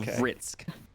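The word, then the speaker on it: Vritzk: So, Vitzk.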